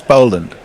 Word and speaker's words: Boland: No, Boland has 1 L, therefore is Boland. Completely illogical.